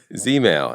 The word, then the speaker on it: Zmail: Is it Zmail? Zmail? Yeah, you got it, right. Right, ZZ Top, Zmail, as in catch some Z's.